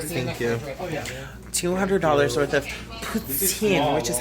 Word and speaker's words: poutine: $200 worth of poutine, which is how you say it officially.